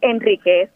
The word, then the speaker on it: Enriquez: Es Enríquez, porque no se acentúa.